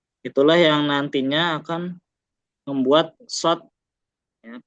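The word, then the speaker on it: ص: Jadi kalau kita bahasakan, shad itu adalah sin dengan versi tebal, sin dengan versi yang membulat, sin dengan versi yang menaik, ya, bawaannya menaik. Itulah yang nantinya akan membuat shad ya, pelafalannya berbeda dengan sin.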